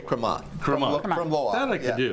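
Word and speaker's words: Crémant: So, let's start with the French, including and I'm going to let you pronounce it because I will slaughter it on the air. Well, we'll just say cremat.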